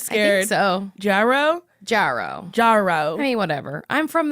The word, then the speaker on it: Jarreau: It's Jarreau! Did I say your last name right? I'm always scared. I think so. Jarreau? Jarreau.